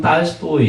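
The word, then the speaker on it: Толстой: 그거는 자음 문제가 아니라 모음 문제이기 때문에 모음이 약화돼가지고 실제 발음은 딸스토이 이렇게 돼요.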